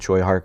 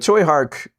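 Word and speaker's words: Tsui Hark: But Choy Hark uh is still a huge name and one that I think I'm pronouncing correctly at this point. I spent a good long while with Tui and I apologize, but I believe I'm I'm closer with Choy.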